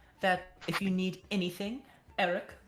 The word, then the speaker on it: Arik: Is there anything that, if you need anything, Eric, our bartender, that's A-R-I-K, would be happy to help you, as so far as he ever Pronounced displays Arik.